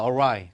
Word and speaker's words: awry: 그 다음에 발음이 awry입니다. awry.